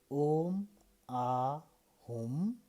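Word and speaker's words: Om Ah Hum: So when we say Om Ahum, friends who are writing, can you write Om Ahum? So I know you are pronouncing correctly.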